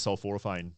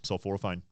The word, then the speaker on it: sulforaphane: They just got tons of sulforaphane, which is Right.